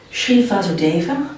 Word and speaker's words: Shri Vasudeva: Shri Vasudeva, do I pronounce that correctly?